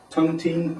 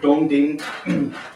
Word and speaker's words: Dongding: at a ulong today this is a tonging or donging depending on um I guess which side of the Taiwan straight you are you were learn you